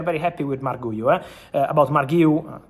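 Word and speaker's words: Marc Guiu: About Marguiu, correct pronunciation, Enzo Maresca already said that at the moment they have no intention to let him go on loan.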